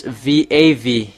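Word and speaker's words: וָו: Even the ancient Hebrew or nowadays Hebrew, they say it's V.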